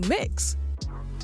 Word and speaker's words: Mx: be changed as well from Miss or Ms to mix when it's written it's spelled MX period Well the principal didn't